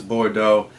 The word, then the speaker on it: Bordeaux: I actually looked up how to pronounce it. It is Bordeaux.